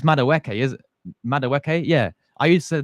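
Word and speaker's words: Madueke: Um Ni, I used to call him Madaw Madaweke. Yeah. It's Mawke.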